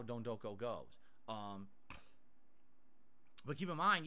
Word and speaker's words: Don Doko: No, I'm not saying Don't Go Island. It's Don Doko. D-O-N, Don, and then Doko, D-O-K-O. I thought it was Don Doko. It's not. It's Don Doko. That's how they pronounce it in the game, so I'm pronouncing it correctly. Not Don't Doko. Or Don't Go.